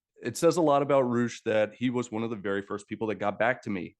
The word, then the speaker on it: Roosh: Roosh rhymes with swoosh. Just use an R.